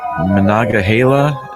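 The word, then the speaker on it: Monongahela: rivers by Pittsburgh what are those rivers then Menaka hayla is how you say I know how to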